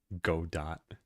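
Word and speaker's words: Godot: Or is it game engine? Godo or GDO? Okay. Go dot. It's go dot.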